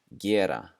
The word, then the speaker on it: gera: The first one is gera, to do, gera. And we're going to pronounce that as if there were a J right after the G, gera.